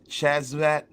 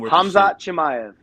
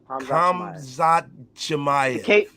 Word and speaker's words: Khamzat Chimaev: Gilbert Burns versus Chazvat. I can't pronounce his name. Khamzat Chimaev. I got you. Khamzat Chimaev. The K is silent. The K is silent. Khamzat Chimaev.